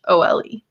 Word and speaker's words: Nicole: Just make sure you remember that it's the French Nicole. So it's Nichole.